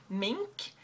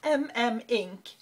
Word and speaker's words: M/Mink: I always used to call it Mink, like the animal. Apparently when I went into the store, he said, no, it's MM Ink. So apparently I've been saying it wrong.